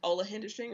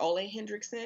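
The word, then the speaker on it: Ole Henriksen: Like recently I found, I think it's called pronounced Ole Hendrickson or Ole Hendrickson.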